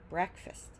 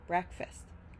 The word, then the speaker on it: breakfast: lastly we have fast when it's one syllable by itself but when it's in breakfast it changes breakfast breakfast Fast breakfast late chocolate